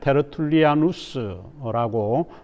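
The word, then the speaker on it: Tertullianus: 그리고 라틴어 발음으로 이야기할 때 테르툴리아누스라고 표현을 합니다.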